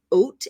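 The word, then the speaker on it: אות: One letter is called an oat, and it's pronounced like if you were going to have some oatmeal, right? Oat.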